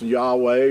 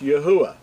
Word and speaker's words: Yahuwah: Now, a lot of people think it's Yahweh or Jehovah and all these other variations, but to be accurate, his name is pronounced Yahuwah.